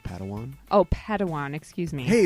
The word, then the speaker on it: Padawan: master yoda assigned a pad one to this bold jedi that's pronounced padawan oh padawan excuse me